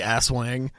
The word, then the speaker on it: Aswang: the pronunciation here but I believe it's assang assang it has to be ass Wang it's spelled as w n g and this is from